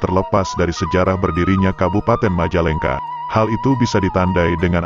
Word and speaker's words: Majalengka: Diduga karena pelafalan yang sulit, sehingga orang Sunda menyebutnya Majalengka, Majalengka, Hingga akhirnya nama Kabupaten Majalengka tidak terlepas dari kisah tersebut.